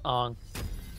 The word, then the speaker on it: Aang: Yes, Aang. Pronounce his name correctly.